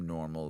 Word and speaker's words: NORML: This is from Normal that put this article out, and it's spelled NORML.